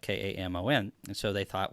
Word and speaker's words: Kamon: And there's a place in Israel it's a town that's spelled Kamon, and so they thought, well, that could sound like Cayman Islands, similar, but it would be spelled differently.